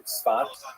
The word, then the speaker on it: Tzfat: And that is the incredible explosion of spiritual, literary, religious activity that occurred in the northern Israel city of Safed, pronounced in Hebrew Tzfat or Tzfats.